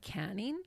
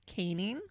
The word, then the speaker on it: caning: So at first I was like, canning? But there's only one end, so I'm pretty sure it's pronounced caning, which is basically getting the strap with a cane, traditionally made from rattan or palm stems.